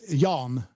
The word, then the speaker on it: Jan: Um from who I took the name Ian uh my my my Christian name is Yan with a J.